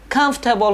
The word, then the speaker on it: comfortable: ၃ခုရှိပါတယ်။အဲ့ဒီမှာဒုတိယမြောက်အတန်ဖြစ်တဲ့ for ဆိုတဲ့အတန်မှာ or ဆိုတဲ့ alphabet လေးကိုကျွန်တော်မြုပ်လိုက်မယ်ဆိုလို့ရှိရင်တော့ English pronunciation အတန်ထွက်အမှန်ထွက်လာပါတယ်။အဲ့တော့အတန်ထွက်အမှန်ကတော့ comfortable ဆိုတဲ့အတန်ထွက်အမှန်ထွက်လာတာဖြစ်ပါတယ်။ဒုတိယမြောက်စကားလုံးကတော့ different ပေါ့နော်ခွဲပြခြားနာသောဆိုတဲ့အဓိပ္ပာယ်ရပါတယ်။ဒီ different ဆိုတဲ့စကားလုံးမှာဒုတိယမြောက်အတန်ဖြစ်တဲ့ fa မှာ e